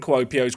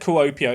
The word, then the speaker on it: Kuopio: No idea what to expect from Kuopio's ground. We'll find out in due course. Also, it's not said Kuopio, it said Kuopio, but it sounds weird when I say it like that.